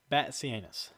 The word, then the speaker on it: Batzianis: is spelled Batzianis, but it is Batsianus.